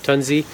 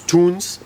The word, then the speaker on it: Tunze: So I had the pleasure of meeting Felix, which is the grandson of the founder of Tunze. Sorry, I said it wrong. It's Tunze.